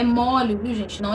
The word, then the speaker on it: chaves: para colocar na comida no caso de Chaves a pronúncia é mole mesmo que não haja aí um acento agudo a pronúncia correta Quando nós vamos nos referir ao coletivo de Chaves é mole tá mole então substantivo